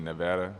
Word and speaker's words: Nevada: I mean for me I say Nevada too but when I first got there people said you're saying it wrong it's supposed to be Nevada but I still say Nevada so it was cool